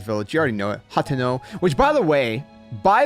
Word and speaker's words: Hateno: line and she she she pronounces the name and she says, "Hateno, peace reigns supreme in Hateno Village."